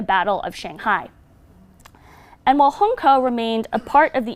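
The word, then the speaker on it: Hongkou: and bombed out District called Hong KO which is often pronounced Hong Kyu in testimonies in Hong Kong refugees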